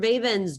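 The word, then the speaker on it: Veven: Vaben's door. Now, Mr. Vaben is spelled V-E-V-E-N, of course.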